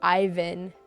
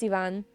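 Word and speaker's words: Iván: I like that you pronounce my name with in the Hispanic way. Many English teachers say Ivan. Yeah. Yep. Yikes. I know it's Ivonne.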